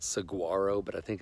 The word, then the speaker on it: saguaro: And funny enough, we stayed at the Saguaro Hotel, which is like this cool kind of hip.